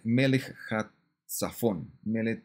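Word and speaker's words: melek tsafon: 11 6 con el melek zafón melek saxofón es el la pronunciación en hebreo de rey del Norte aparecen en el 11-7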